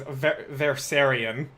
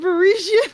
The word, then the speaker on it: Versarian: Yeah, yeah, and it's also remember the last name is Versarian. Oh no. I've been saying Parisian on this entire time.